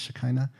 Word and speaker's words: Shekinah: spirit for the hebrews it was shakina have you heard that word before sometimes pronounced shekinah shakina they understood it as